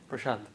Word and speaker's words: Prashant: Yeah, Prashant.